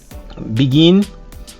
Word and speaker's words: begun: And irregular, begun. Pour la prononciation de ces deux-là, le passé, c'est dans le nez, began. L'autre, c'est dans la gorge, begun.